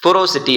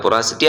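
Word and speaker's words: porosity: Next வந்து பார்த்தீங்க அப்படின்னா பொரோசிட்டி அப்படின்னு நம்ம சொல்கிறோம். சரிங்களா? பொராசிட்டி ஆர் பொரோசிட்டி உங்கள் விருப்பம் எப்படி வேணும் நீங்கள் ப்ரொனவுன்ஸ் பண்ணிக்கோங்க. சரிங்களா?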